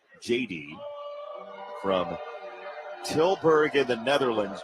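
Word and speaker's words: Jedy: Mary's for JD Cordelia. It's spelled J E D Y. JD from Tillberg in the Netherlands just north of Belgium.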